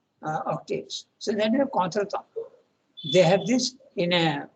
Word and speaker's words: contretemps: Contretemps is it's English there, but it's pronounced as in French, contretemps, and it means something awkward, embarrassing, moment, situation, slight disagreement.